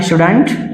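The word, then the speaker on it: shouldn't: शुड नॉट को मिला के शुडंट या शुंट प्रोनाउंस कर सकते हैं।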